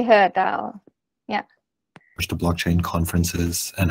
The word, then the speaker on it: HER DAO: You just say HER DAO.